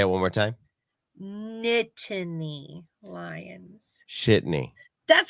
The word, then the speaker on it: Nittany Lions: Yeah, and I saw that your Shitney Lions pulled off the win against West Virginia as well. Shitney Lions. Isn't that how you pronounce that? No, it's Nittany Lions.